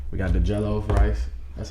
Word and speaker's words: jollof: You saying we got the jollof rice. That's how you pronounce it, right?